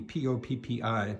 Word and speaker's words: Poppi: And the town is called Poppi, P-O-P-P-I, pronounced Poppi, and it's north of Arezzo and on the Arno River.